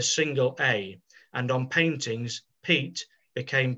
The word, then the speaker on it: Piet: as he addressed him the dutch pronunciation was pete mondrian so he changed his